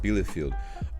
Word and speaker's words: Bielefeld: I'm pretty sure is how it's pronounced, Bielefeld.